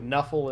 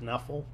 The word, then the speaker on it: Nuffle: They're going to refer to Nuffle and stuff like that, which is a play on, if you pronounced NFL as one word, Nuffle.